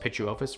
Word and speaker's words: Pituophis: It's spelled like this, but it's pronounced Pituophis for some reason.